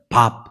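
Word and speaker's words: Bob: 근데 미국 사람들이 로버트라고 하는 이름을 그냥 친근하게 친구들끼리 부를 때는 애칭으로 뭐라고 부르냐면 밥, 그렇게 부릅니다. 여러분, 우리가 밥 먹는다 할 때 그 밥 있잖아요. 그것과 똑같은 발음이에요.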